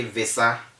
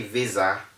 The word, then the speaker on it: visa: with a substandard usage don't say visa say visa okay and don't say embazzy